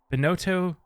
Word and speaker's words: Bonoto: pronouncing it weird uh I'm bonoto it is more of a singular word because we were doing